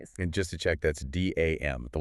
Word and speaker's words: DAM: And just to check, that's DAM, the letters. Yes. Dam. Please do not pronounce it like the river barrier.